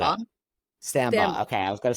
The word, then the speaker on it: Stambaugh: last name I don't want to M up sambba okay I was gonna say it like that